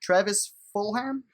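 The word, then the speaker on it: Travis Fulgham: How do you pronounce this guy's name? He shined last week. Travis Fulham.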